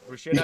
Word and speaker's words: bruschetta: Because they say it's pronounced bruschetta. Bruschetta is pronounced bruschetta.